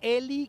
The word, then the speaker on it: Ely: Pues ella es Eli Quintero, se escribe E-L-Y, Eli Quintero, el tema se llama